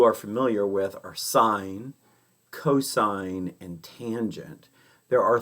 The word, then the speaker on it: cosine: And cos, we don't say cos, we say cosine. I mean, sometimes we're lazy and we say cos, but it stands for the cosine.